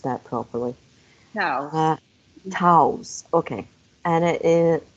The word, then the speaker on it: Towes: Towes. Towes, okay. And it is a bioresonance alchemist and ancient destiny cardiologist. Towes. So it's like a D and not a T? Yeah, Like, Towes, yeah.